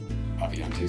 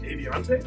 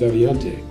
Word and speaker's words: Avionté: stad using the briefcase in pul fiction contained aviante software they once mispronounced our own name just to see what it sounded like Avante abas avalante abas it's been said that a makes temps